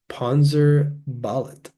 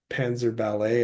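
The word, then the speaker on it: Panzerballett: Now, I thought this band name might have been pronounced Panzer Ballet at first, like ballet, the dance style, but there's an extra T at the end. So I'm pretty sure it's Panzer Ballet.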